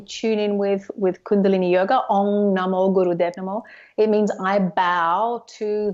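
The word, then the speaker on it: Ong Namo Guru Dev Namo: And then if you can chant, since I can't even pronounce it, I will try my best to try to follow you. It's Om Namo Guru Dev Namo.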